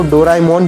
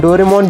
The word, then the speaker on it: Doraemon: अगर आप सोच रहे हैं कि लोग डोरेमोन को डोराएमोन क्यों बोलते हैं, डोरेमोन क्यों नहीं, तो मैं आपको बता दूं कि इसका रियल प्रोनाउंसिएशन डोराएमोन ही है। हिंदी डबिंग में इसे डोरेमोन बना दिया गया है।